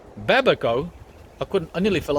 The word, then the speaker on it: babaco: new growth and brett it's babako not babeko babaco i couldn't i nearly